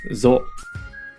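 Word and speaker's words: ぞ: So with the Dakten is pronounced zo.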